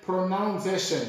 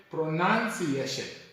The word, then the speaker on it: pronunciation: when we are talking about pronunciation we don't say pronouncation but we say pronunciation and thank you very much for watching